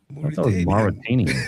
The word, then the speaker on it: Mauritanian: So Don, you're going to go ahead and pronounce that one for us? It's the Marturitarian. Mauritanian.